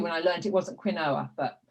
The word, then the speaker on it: quinoa: how you say it quinoa inua yes different people say it different ways but it's okay i was about 20 no no it's about 41 42 when i learned it wasn't quinoa but it's not something